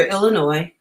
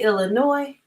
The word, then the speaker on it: Illinois: second do you say Illinois or Illinois who said the S is silent talk about that another